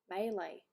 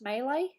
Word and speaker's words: melee: Jack septi intro sorry melee okay yeah isn't that how it's meant to be pronounced melee and Mele the Canadian way yeah yeah look I'm